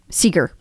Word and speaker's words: Segar: dr michelle segar or seeger um and uh i don't know why i said cigar because it's bob seger and i feel like it's probably pronounced the same sure as bob seeker anyway dr michelle seeger